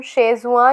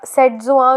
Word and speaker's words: Setzuan: इसे हम शेजुआ या सेटजुआ जो भी आप कह सकते हो, दोनों प्रोनाउंसिएशन इसके करेक्ट हैं।